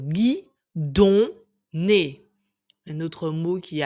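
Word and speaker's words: guidonne: prononcer le son on si j'écris guidon g I d o n n e il ne faut pas lire guidoné puisqu'il y a o n suivi d'un autre n pour faire le son N donc gu don un autre mot qui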